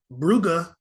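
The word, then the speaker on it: Brugge: how to pronounce this I thought it was Club Bruges but it's Club bruga against Atletico Madrid um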